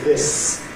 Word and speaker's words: this: No, we don't say this, we say this. And it remains voiceless this year.